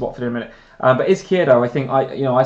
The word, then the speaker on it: Izquierdo: So it's not like I would sell Izquierdo in order to fund Kane.